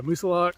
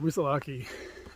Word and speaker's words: Moosilauke: to say but I've I've tried to ask the locals and I guess there's uh disparity in in the way that people think it should be pronounced but um yeah Musa lock or musalaki uh we're about to